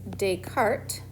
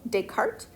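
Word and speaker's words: Descartes: and his name was dayart let me spell it right s but you don't pronounce the S so deart uh he is the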